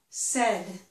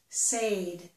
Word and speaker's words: said: They think that maybe they should say said. They think that this vowel sound is the A sound in the word say.